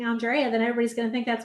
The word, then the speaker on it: Andrea: name in the world it has three pronunciations Andrea Andrea and Andrea um so it can always be wrong uh but I'm an Andrea but I had a great